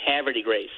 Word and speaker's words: Havre de Grace: but I would say Havre de Grace. Well, you have to pretend that French were never invented and speak like the Beverly Hillbillies and say Havre de Grace.